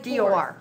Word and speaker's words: Dor: Dor like an O. Just D O R but with D.